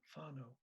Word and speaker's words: whānau: And one of the words that they use is whānau, WH, which is F in Maori pronunciation, WHANAU, whānau.